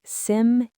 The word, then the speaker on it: simile: The correct pronunciation has three syllables and the stress is on the first syllable. It sounds like simil just like hyperbole. That final e makes a long e sound.